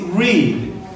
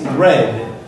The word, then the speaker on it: read: in the present is read pronunciation in the past is red homophone four read the